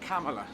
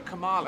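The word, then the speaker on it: Kamala: yes now I I it's came am I pronouncing her first name like camela yes I yeah camea cuz I tended to go go Cala and I think no I don't think that's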